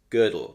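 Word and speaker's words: Gödel: you pronounce girdle well I pronounce girdle as girdle because I think the o with an unlout makes an ER sound uh I really do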